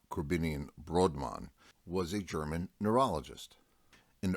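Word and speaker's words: Korbinian Brodmann: the name of broadman corbinian brodmann or more appropriate pronounced krabinian brodmann was a german neurologist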